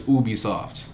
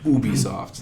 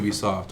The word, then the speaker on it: Ubisoft: Says that it is pronounced as Ubisoft. The company's president says it's pronounced Ubisoft. All right, guys. Not Ubisoft.